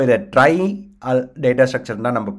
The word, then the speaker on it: trie: ஸோ இதை try data structure தான் நம்ம ப்ரொனவுன்ஸ் பண்ண போகிறோம்.